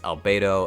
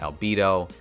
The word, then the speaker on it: Albedo: it as albedo and i've been saying her name wrong this whole time i apologize but i finally started watching overlord and i realized it's albedo and not albedo anyway let's talk about